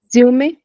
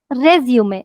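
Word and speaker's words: résumé: Resume. Resume. Do you see the matra on the e's? And right, Kanika did pronounce the last letter because it's an exception. Resume.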